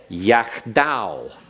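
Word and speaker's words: יַחְדָּו: Yachdav.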